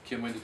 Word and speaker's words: Kemal: Son A üzerinde tahfif işareti yani inceltme işareti yumuşattığı için telaffuz hemen hemen Arapça Kemal telaffuzuna yaklaşır. Benzeyiş bundan ibarettir. Sene 1935. Yani diyor ki bu yaşıma kadar Kemal'i kullandım ama o Arapça